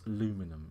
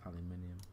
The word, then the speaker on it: aluminium: Pronounced Nissan incorrectly, and you pronounce aluminum incorrectly as well. That's wrong. It's aluminium.